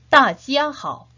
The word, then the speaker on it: 大家好: 역시 눈으로 잘 익히면서 같이 발음해 보도록 합시다. 大家好, 大家好, 大家好.